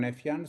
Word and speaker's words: Nefian: My name is Aaron Nefan. So, um, uh, the pronunciation was, uh, perfect.